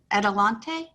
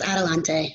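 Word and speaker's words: Adelante: with bethany house and help me with the pronunciation edelante is that correct it's a resource center yes adalante you said it right okay good and what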